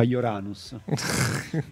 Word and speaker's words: Uranus: Marte Giuda morto dice che votano Urano perché in fa ridere agli americani che si pronuncia uranus penso Sì può essere